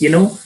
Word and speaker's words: knife: Knife is a knife. The K is silent.